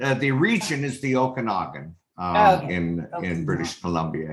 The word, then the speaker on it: Okanagan: the uh okanagan uh the region is the okanagan uh in in british columbia here yeah um